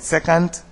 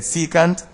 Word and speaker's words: secant: at secant and tangent some may pronounce it second my ancient mathematics teacher said secant and I'm using that word also so secant if a straight line